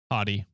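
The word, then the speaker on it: haughty: Is it pronounced hottie? H A U G H A U G H Y. Yeah, hottie.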